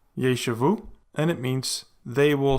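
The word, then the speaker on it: יֵשְׁבוּ: And finally, a Shewa following a tzarei, which is a long vowel, thus it is a vocal Shewa, leading to the pronunciation of yeshavu, and it means they will sit or they will dwell.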